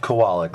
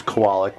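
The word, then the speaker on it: Kowalik: please pronounce your last name to everyone it's pronounced kawalik ladies and gentlemen let that be let's set the record right now it's koalak we heard the name pronounced several different ways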